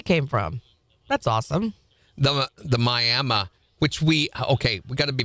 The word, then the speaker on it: Miami: The Miami, it's Miami Indians. That's the way you pronounce the Indian tribe.